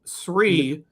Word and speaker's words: Shree: For years, I pronounced your name with an H after the S.